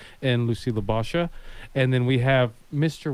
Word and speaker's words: Libosha: Well, I was thinking tomato, but I do go by Lucy Libosha.